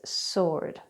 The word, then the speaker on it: sword: And last but not least is the Silent W which we find in such words as whole or sword so we don't pronounce it wuh-ole its whole we don't pronounce it's sword its sword.